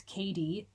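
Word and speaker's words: Cady: She's suddenly having to take care of her niece Katie, spelled C A D Y.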